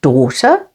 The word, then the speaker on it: daughter: you're having a laugh G is always silent before H like in the words daughter with the stress on